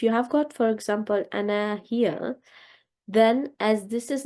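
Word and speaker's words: أنا: a singular word, and if you find this as a single word, then in this case the alif will be not read at all. It will be written like this, but it will only be read like this. This is important because it's an exception, but it will always be read like ana.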